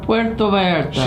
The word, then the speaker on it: Puerto Vallarta: Puerto Vallarta.